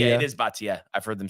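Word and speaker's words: Bhatia: so by the way I think we've been pronouncing bajia wrong what is it btia B it is baa I've heard them say that yep so good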